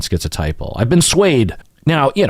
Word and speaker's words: schizotypal: so including the T sound in schizophrenia or schizotypal is more in line with the original pronunciation of it I wonder what people in